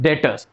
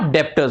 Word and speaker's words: debtors: Students, it इज डेटर्स, नॉट डेप्टर्स। वी आर not going to pronounce it एज अ डेप्टर, इट इज डेटर, बी is silent.